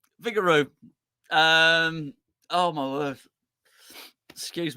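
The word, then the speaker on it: Vigouroux: Colin Redmond sry Brun lson over FEI Vigor vigorous I I I'm so sorry I've iMed the phrased at PACE uh is how you say it vigaro vigaro um oh my word excuse me I got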